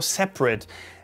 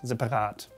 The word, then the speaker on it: separat: Many Germans call this word, or say, separat, separat, separat, separat, with an E, right? Separat, separat. But it should be separat, separat.